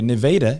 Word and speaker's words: Nevada: Nevada, if you come down southeast, that is how you say it, folks.